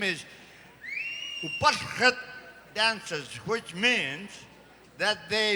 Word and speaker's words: Upallret: Upallret. John Active over here is going like this, so I must be saying it right. Thank you, John, for confirming that this is the Upallret Dance Group and Myron Nanning.